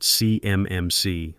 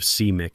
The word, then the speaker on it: CMMC: He called it CMMC, letter by letter, like a kid sounding out a word, instead of CMIC as a single designation.